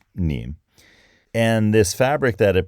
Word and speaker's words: Nîmes: And Nîmes is spelled N-I with a circumflex M-E-S. But it's pronounced Nîmes.